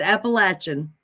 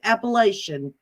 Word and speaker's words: Appalachian: apple like Appaloosa horse Apple latch as in you latch the door in i-a-n-n almost like I plan no it's Appalachian Appalachian Jesus loves I don't care as long as you don't pronounce it appellation oh I'm never gonna